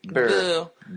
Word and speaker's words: Burr: Burr.